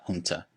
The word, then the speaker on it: junta: quote deines night birds and the famous quote-unquote junta by the way it's pronounced junta regardless media outlets have parroted this which in